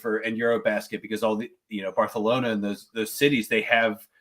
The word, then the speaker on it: Barcelona: It is pronounced Barcelona. That is how you say that.